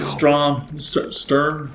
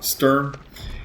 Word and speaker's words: Sturm: Now it does 10,000 points of damage after the fight with Stum Stern. I'm sorry I always say it wrong. Sturm.